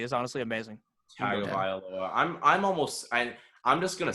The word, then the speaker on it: Tagovailoa: pronounced his last name correctly is honestly amazing. Tagovailoa.